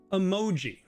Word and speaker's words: emoji: Emoji. Again, it's that second one. It's not always the second one, but right here, let me keep this in red just so we're consistent. So emoji. Emoji. the mo is louder and longer.